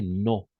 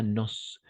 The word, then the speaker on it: nos: On va prononcer no, pas nos. Sauf si on va faire la liaison, d'accord? Nos amis, par exemple.